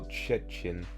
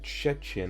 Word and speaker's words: trzcin: Shady lis szybko przebiegał koło wierzby, koło trzcin. Is probably the easy. I said trzcin. I think it's more trzcin.